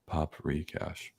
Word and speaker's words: Paprikash: Paprikash. Yep. Pronounced paprikash. Paprikash. Paprikash. Fine Spirits Appreciation Society.